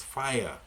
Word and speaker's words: FHIR: is called FHIR and you pronounce it as fire.